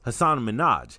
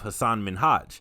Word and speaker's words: Hassan Minhaj: long into the conversation ellen mistakenly pronounced hassan's name as hasan minaj instead of hassan minhaj hassan was a little